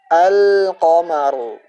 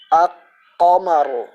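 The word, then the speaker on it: الْقَمَرُ: yang telah kita sebutkan maka cara membacanya dengan dijelaskan diperjelas lam Sakinah nya seperti ini alqamaru alqamaru jadi bukan di Telkom seperti ini aku qamaro akan tapi dijelaskan alqamaru Lalu kenapa ilah nya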